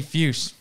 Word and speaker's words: Fuchs: Please welcome Ginny Fuchs.